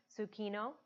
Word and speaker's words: Sukhino: Yeah, Lokah Samastah Sukhino Bhavantu.